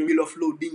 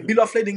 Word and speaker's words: bill of lading: terme ça en pile moun kon mal prononcer yo dit bill of loading c'est lading LADING OK bill of lading nan son document et